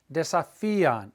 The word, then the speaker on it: desafían: They challenge, desafían, accent on the I.